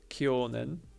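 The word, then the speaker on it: 去年: stupid oh my God so last year is kionen but every year is maitoshi with the same kanji other forms mining all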